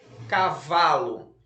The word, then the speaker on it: cavalo: Cavalo. Então, você vai fazer um traço em cima, em cima não, embaixo da sílaba vá.